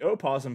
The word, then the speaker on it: opossum: But one's gonna be called a possum, and one's gonna have an O in front of it that is completely silent.